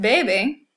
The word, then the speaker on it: bebe: We also have the word bebe here, which is the verb to drink. So he or she drinks, bebe. So yes, these words look almost exactly the same thing. The only thing different is the stress.